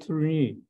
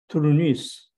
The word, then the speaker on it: Tournus: who sells the ticket, I said Tournus. He says Tournus. He's pronounced S.